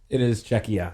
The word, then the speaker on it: Czechia: You have the pronunciation down in your notes. Oh, it is Czechia.